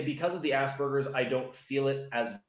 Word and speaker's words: Asperger's: I feel like I'm saying Asperger's, like ass and then burger. That's how it's pronounced.